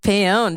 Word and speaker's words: Paone: Sam Paone. Did I say it right? Sam Paone, yes it is.